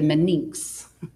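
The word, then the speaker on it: meninx: one of the meninges you would say the Mannix okay so these are called matters and mater is spelled with only one T so the outer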